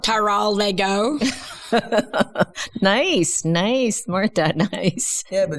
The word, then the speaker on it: Teroldego: No, I mean, like, how do they pronounce it? Teroldego. Yeah, Teroldego. Teroldego.